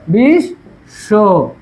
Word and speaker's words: বিশ্ব: বিশ্ব, বিশ্ব, ঠিক আছে? এটা বলছে কি মাঝখানে বা সাথে থাকলে 2 বার উচ্চারণ হবে। তাহলে কি হবে? বিশ, এই যে হসন্ত, বিশ শো, বিশ শো, ঠিক আছে?